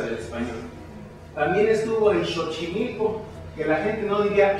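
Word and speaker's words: Xochimilco: español También estuvo en chochimilco que la gente no diría chochimilco porque la x del naha de paso se ha dicho se pronuncia como la sh del inglés o la ch del francés entonces dice chochimilco pero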